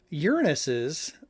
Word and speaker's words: Uranus: peanut allergy information yikes Uranus's Moon that's how you pronounce it Uranus Moon uh Miranda may